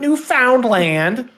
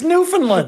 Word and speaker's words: Newfoundland: how to pronounce Newfoundland it's not Newfoundland it's Newfoundland but my response to